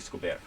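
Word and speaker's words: Escobert: Yes, but he's got a bit more of a French, as we would know, as a French pronunciation to his name. So it's actually Scobert.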